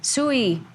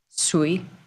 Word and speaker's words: Sui: Sui. We need to agree on how we're saying that. Sui. Yeah. Like chop. Sui.